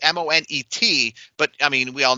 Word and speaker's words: Moné: It's Monet, but I mean, we all know the C silent in it. It's not Monette, right?